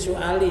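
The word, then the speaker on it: سؤالي: Ilmuhu itu hasbi min su'ali, bukan min su'ala ya.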